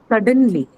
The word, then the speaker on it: suddenly: be um then come suddenly suddenly suddenly what category is this suddenly importantly something adverb suddenly when adverb hence the stress is on or first syllable first syllable How about seriously